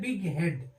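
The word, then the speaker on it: bighead: क्या होता है कि जी और एच अलग-अलग प्रोनाउंसड होते हैं उच्चारित होते हैं उनका उच्चारण किया जाता है जैसे बी आई जी एच इ ए डी दो शब्दों से मिलकर बना है बिग और हेड तो इसको हम पढ़ते हैं बिग हेड तो यहां पे अलग-अलग इसका उच्चारण होहा है बिग हेड यहां पे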